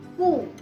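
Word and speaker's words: cu: कू, alphabet Q को Spanish में कू बुलाया जाता है और इसकी प्रोनाउंसिएशन रहती है के या की।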